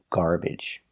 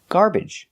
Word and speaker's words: garbage: The second syllable is not stressed. Garbage. For this syllable, we have three pronunciations. You can use the uh sound like cup and up. Garbage. Garbage. The schwa sound is an unstressed uh uh like cup and up. So, we can make that sound garbage. But you can also pronounce it with the short e like eggs in bed. Garbage.